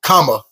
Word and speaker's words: Kamala: Hopefully once we get Auntie in here, Auntie Kamala. I said her name wrong. Kamala.